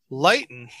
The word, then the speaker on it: Leighton: and the ford show right light that's how you pronounce her name lighten yep i wonder if